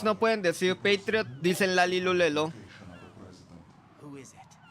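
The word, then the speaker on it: La-Li-Lu-Le-Lo: Por eso se llaman The Lalilulelo. hostages are being held Porque in si lo P1 pronuncias en japonés core. sería In Shadow Rarirurero.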